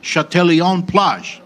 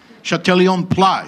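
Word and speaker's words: Châtelaillon-Plage: can pronounce this correctly, Châtelion-Plage. Right. Not plague. Yeah. Châtelion-Plage.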